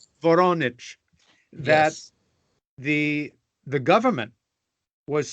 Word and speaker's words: Voronezh: Is it pronounced Voronezh? Voronezh. Voronezh.